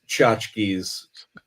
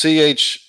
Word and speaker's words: tchotchkes: And it's spelled kind of funny, tchotchkes. I'm not going to bust it out now, but I think it's CHAT-CHIKS. IKS. Is that it?